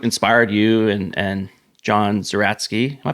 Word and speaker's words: Zeratsky: tell us what inspired you and and John zeratsky am I pronouncing his last name right zatki yeah yeah that's right okay we can just